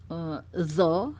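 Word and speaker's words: ظ: juga baru tahu, ternyata untuk pengucapan makhraj huruf zo ya, zo itu bukan zo ya. Selama ini kita bacanya zo ya. Artinya ujung lidah kita menempel bersinggungan dengan gigi seri bawah. Tapi ternyata huruf zo itu adalah lidah kita dikeluarkan, di ujung lidah kita keluar.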